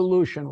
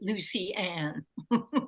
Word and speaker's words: Lucien: No, explain to the audience who Lucien was. He pronounced his name Lucien, right? Lucien. Yeah. Oh, Lucien. That's better than I'll. My father pronounced it Lucy-Anne.